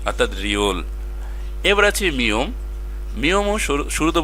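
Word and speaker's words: 리을: প্রথমে বসলে র, মাঝখানে বসলেও র, শুধুমাত্র নিচে গেলে ল, অর্থাৎ রিওল।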